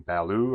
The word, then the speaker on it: Ballu: This is a review for this awesome space heater from Baloo, I think is how you say it. B A L U Baloo.